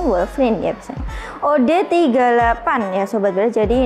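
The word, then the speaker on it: Wolverine: FR Iya Wolverin verin Tapi bacanya Wolverin ya od38 ya sobat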